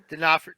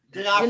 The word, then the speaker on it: D'Onofrio: Vincent D'Onofrio. D'Onofrio.